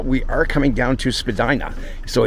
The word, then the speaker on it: Spadina: You heard that right, Spadina. That's actually the way the house name is pronounced.